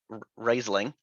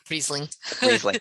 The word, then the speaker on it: Riesling: i have uh something i will also probably mispronounce uh raiseling riseling riesling thank you okay wine is not my wheelhouse